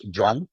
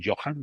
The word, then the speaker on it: Johan: Johan, que por cierto, su nombre es Joan, no es Johan, Johan lo llamamos tú y yo, para diferenciarlo del mío, que es Juan, sí, sí, sí. porque se escribe Johan en español, ¿vale? Pero se pronuncia Joan y yo me llamo Juan.